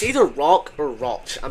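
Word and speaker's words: Rauch: rock Ro I'm pretty sure it's rock It's pronounced rock is it Ro Ranch I'm pretty sure it's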